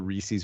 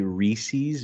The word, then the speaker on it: Reese's: Because people who say Reese's make me want to put an ice pick through my eye. It's Reese's. It's not Reese's.